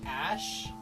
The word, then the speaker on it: Æ: yeah some American Eagle he said that it pronounced ash and like you could